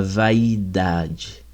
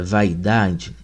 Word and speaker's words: vaidade: Mas no século X, algumas palavras como saudade e vaidade, né, eram pronunciadas, né, eh, para compor quatro sílabas, né, eh, o vai aí, né, que para nós seria um de tongo, né, eh, para os portugueses do século X seria um iato, né, a mesma coisa a palavra saudade, né?